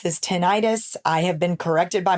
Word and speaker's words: tinnitus: sudden onset of a pretty bad case of tinnitus now some people pronounce this tinnitus I have been corrected by my doctor the